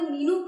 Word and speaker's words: menu: kind of restaurant, because the right pronunciation is, can you please bring menu card? Man, you know, M-A-N, man, and then it comes U.